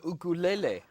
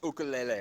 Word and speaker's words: ukulele: Or the ukulele? I'll take the guitar. I'm going to go ahead and put a veto on that pronunciation of ukulele. Overruled. It's ukulele.